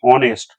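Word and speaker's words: honest: প্রথমে দেখো এইচ আছে এইচ এন এসটি আমরা কিন্তু উচ্চারণ হনেস্ট করি না আমরা উচ্চারণ করি কি অনেস্ট যেহেতু এইচটা এখানে সাইলেন্ট আছে তাহলে আমাদের ও এর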